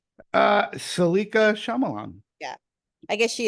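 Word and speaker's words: Saleka: Salika Shyamalan.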